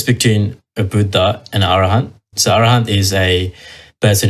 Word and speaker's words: Arahant: Arahant.